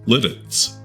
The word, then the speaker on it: Lititz: It's pronounced litts. Last episode featured a great interview with Eric Wolf, co-founder of Stolen Wolf Distillery, which is in Litz in Lancaster County, Pennsylvania.